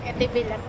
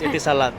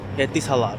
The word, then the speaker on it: Etisalat: Eti bilat. So yun. Eti bilat. No it's etisalat. Iba pala iyon. It is pronounced as etisalat.